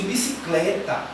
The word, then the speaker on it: bicicleta: Quando eu pronuncio bicicleta, eu vou ter apenas uma sílaba que eu vou botar um pouco mais de força, que é o clé. Bicicleta. Logo, esse clé vai ser a minha sílaba tônica, certo? E as outras sílabas, o bi, o si e o tá, serão as sílabas átonas, pois elas não têm tanta força ao pronunciarmos.